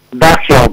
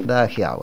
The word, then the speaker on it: Da Giau: No sé si pronuncié bien tu apellido, Francisco, corregilo si es necesario. Dajiao, perfecto. Dajiao, excelente.